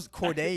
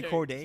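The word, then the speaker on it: Cordae: So it's Corday. It's so Corday. You can't say Corday. See, I was about to say Corday.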